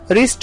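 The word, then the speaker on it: wrist: रिस्ट में पहला जो W है वो साइलेंट होता है, उसे R से रीड किया जाता है, रिस्ट।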